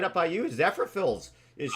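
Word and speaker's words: Zephyrhills: Zephyrfills is I, huge for I that. I love it. always Yeah. say it wrong. How do you say that, city? Zephyr Hills, yeah.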